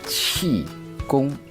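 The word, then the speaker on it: Qigong: a Chinese meditation practice apologies for my poor pronunciation let me show you the proper way to pronounce it Chong this article called fasia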